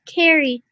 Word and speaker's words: Carrie: her name is Carrie it's pronounced Carrie like with the K sorry my man don't